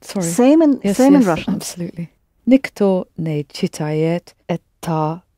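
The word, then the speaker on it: никто: talk sheet I not you need another nickname nikto nay cheetah youth nikto is singular so it's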